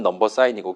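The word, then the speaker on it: number sign: 요거 샵이라고 읽으면 안 됩니다. 우물정 아니에요. 넘버 사인이라고 읽어주시면 됩니다.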